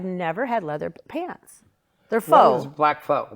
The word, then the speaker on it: faux: faux that's food thing which is it is it faux or F it's fo got that one right and I have um